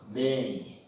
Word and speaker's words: bem: Bem. Olha aí. Você não diz bem, você diz bem. Esse o M aparece com som de I.